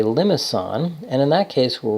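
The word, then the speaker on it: limaçon: that we know that we pronounce this with a soft C not a hard C if it were a hard C that would be limit on which I think is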